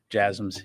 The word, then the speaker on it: JASSM: There's been some reports about JASSMs, if I'm pronouncing that correctly. Yeah, the last question, yes, JASSMs. Yeah, you're pronouncing it correctly.